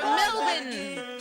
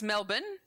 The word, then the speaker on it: Melbourne: They pronounce it close to the Aussie. Oh, it's Melbourne. Melbourne.